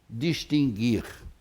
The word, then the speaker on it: distinguir: Outra coisa, você diz distinguir. Você ouve distinguir e distinguir. Isso. Extinguir e extinguir. Ora, esse U não pode ser proferido, embora seja proferido e embora seja até registrado nos dicionários.